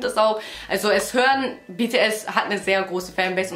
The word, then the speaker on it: BTS: Es heißt nicht BTS, es heißt BTS.